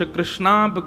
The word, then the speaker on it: कृष्ण: इसीलिए हम कथाओं में कहा करते हैं कि भगवान का नाम उच्चारण करना है तो कृष्ण बोलो, कृष्ण। और यदि द्रौपदी का उच्चारण करना है तो कृष्णा बोलो, अकार आ की मात्रा लगाओ।